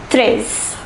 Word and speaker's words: treize: The number 13 is pronounced treize, treize.